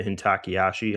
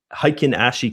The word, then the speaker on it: Heikin Ashi: I'm thinking about what's it doing here with the Hintaki Ashi. I know I'm saying it wrong. You guys make fun of me the other day. Uh, Heikin Ashi candles, right?